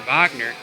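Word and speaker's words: Wagner: vano and and and Vagner I know that's how you say it Vagner he's from Berlin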